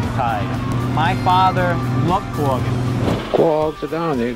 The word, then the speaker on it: quahog: Quag. Quag. Now, I grew up on the Cape, and we said quahog.